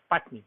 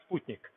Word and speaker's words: Sputnik: before the 4th of October 1957 people sometimes pronounce it as Sputnik but actually a Russian word is Sputnik which means satellite and then first men's white